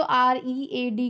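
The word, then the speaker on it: read: things about her okay जब हम किसी पस्त की बात करते हैं तो रीड को हम रेड पढ़ते हैं अगर हम प्रेजेंट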